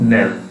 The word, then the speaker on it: knell: चलिए 30 नंबर में नेल, इसका प्रोनाउंसिएशन क्या होगा? नेल, जबकि लिखना कैसे? KNELL, और पढ़ना कैसे है? नेल।